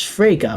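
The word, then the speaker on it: Fraga: As much as you know, Beatrice Frege, which rhymes with Sega, is the formerly missing daughter of the now late William Frege.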